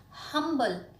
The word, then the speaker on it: humble: one Oh humble man humble starts with the consonant sound ho where as an honest